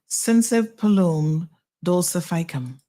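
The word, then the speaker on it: Synsepalum dulcificum: Sensipalum dulcificum. Yes, Sensipalum dulcificum. There you go. Learn how to pronounce a new word today, new phrase.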